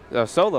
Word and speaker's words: Soelu: First person I saw that was in there was Brandon Soelu, and just Solo, that's how you apparently pronounce it.